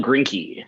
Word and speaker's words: Grinke: So introducing our main presenter of the night, Grink, is, how do you say your name, first of all? Grinke. Grinke, perfect. Grinke, the E gets people. It's that weird bastardized German that'll get you.